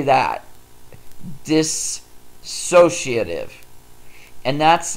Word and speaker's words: dissociative: seen that word it's dissociative a lot of people will try and put an A in there so it's they say disassociative and that's not the correct pronunciation so say that dissociative and that's like an